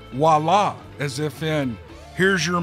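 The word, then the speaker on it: voilà: seen this word in my life and i pronounced it viola because i phonetically pronounced it out now of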